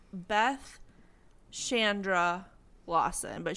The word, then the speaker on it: Chandra: is yeah it's Beth Shandra Lawson but she went by Shandra okay and she spells it with a CH so that's why I keep wanting to say Chandra but it's definitely Chandra okay well I said